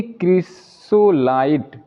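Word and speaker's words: chrysolite: एल आई टी ई, यानी कि क्रिसोलाइट। यानी कि सी एच का प्रोनाउंसिएशन यहाँ पर भी क के रूप में हो रहा है।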